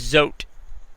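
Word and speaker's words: Zote: any other number of things tactical tip is zot it's a soap it's spelled Z z o te I believe it's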